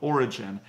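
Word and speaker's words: Orijen: Okay, the first brand is called Origin, and that's spelled O-R-I-J-E-N.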